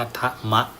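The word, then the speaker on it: ทมะ: นะ เ เรียก ทะมะ ทหาร ม ม้า ตระอะ อ่าน ว่า ทะมะ นะ ครับ ก็ จะ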